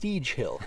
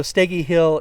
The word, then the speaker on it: Steege Hill: it should be pronounced steege Hill It's s t g G and I found out that the proper pronunciation is sty after calling it steg Hill for about an hour